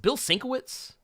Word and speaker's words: Bill Sienkiewicz: Was it Bill Sienkiewicz? Yeah, you actually pronounced it perfect.